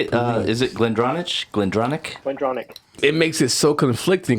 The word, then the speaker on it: Glendronach: Glendronach.